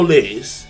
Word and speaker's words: lait: So apparently he consumed these café au lait, or I think that's how you say it in French, or lait, or la. I know that like the T is silent, but whatever.